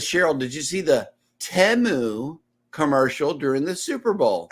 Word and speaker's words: Temu: I'm like did you hear the way they're pronouncing this place it's not teu it's temu so yeah I know that was crazy listen